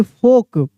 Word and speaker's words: folk: WALK walk, CHALK चौक, FOLK फोल्क नहीं फोक, ठीक है ना।